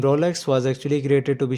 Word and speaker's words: Rolex: Some people say it wrong like Rolex, but the correct pronunciation is Rolex in American pronunciation and Rolex with a typical Swiss French pronunciation.